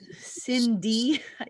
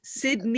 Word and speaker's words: Sydney: I'm starting to think that I've been getting her name wrong all this time. I'm so sorry. We've been having this contest in our other group, and it's Sydney.